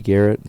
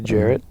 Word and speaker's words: Jarrett: Garrett, or Grady Garrett. Jesus Christ. Grady Jarrett. Yes. I can't pronounce names today.